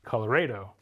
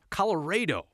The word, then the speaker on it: Colorado: Evidence from the 1800s shows schools teaching a version that sounds strange to our ears. Colorado. Colorado. We'll call that the pioneer pronunciation. Another way of saying our state's name still persists on the plains. You can still hear Colorado, which is an older version that used to be more popular, but there still are